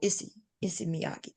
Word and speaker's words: Issey Miyake: Oh, Issey Miyake.